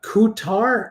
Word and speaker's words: Qatar: in here Square so probably more like Qatar uh DQ uh coutar uh rhymes with guitar uh oh man vivash uh 112.